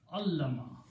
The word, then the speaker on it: allama: Now we are going to make another word with putting a shadda in the middle. Fa'ala. Okay? So this word becomes allama. Shadda on the middle letter.